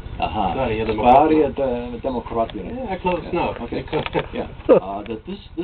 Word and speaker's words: Sverigedemokraterna: Sverigedemokraterna. Uh-huh. Sverigedemokraterna.